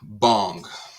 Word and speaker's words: bhang: If I had to put out an edible, it would be bong. And I don't know if you know what that is, but it's spelled BHAA.